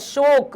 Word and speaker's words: शौक: करेंगे बेटा ये है शोक ओ ओ की मंत्र अशोक और ये है ओ की मंत्र शौक शौक ठीक है प्रयास कोशिश